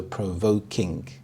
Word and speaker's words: thought-provoking: together as one idea the primary stress is on the second part of the compound word voke so provoking for example the movie